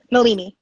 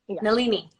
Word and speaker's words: Nalini: and we can i'm gonna um no uh nalan sorry i keep saying your name wrong say it again malini nalini um um so i'm gonna nalini has taken